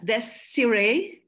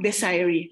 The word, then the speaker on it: Desiree: by syllabication like Desiree some can pronounce my name as this Siri which is the right pronunciation it is a from of a French origin okay and some Desiree from the word desire